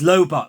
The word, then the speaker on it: Lobot: heard anyone call him labot before but it's lobot ladies and gentlemen like robot isn't it surely let me